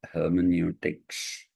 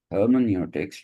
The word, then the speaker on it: hermeneutics: EU is pronounced oi in German.